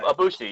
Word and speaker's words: Ibushi: Ibushi, yeah.